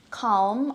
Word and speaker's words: calm: Filipinos would say allemande calm I feel come today palm tree bomb all these words have a silent L so this is the